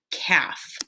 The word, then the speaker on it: calf: yeah what's a little cow called it's a calf which one of these silent letter pairs set will complete the word caf and you'll just double click and type right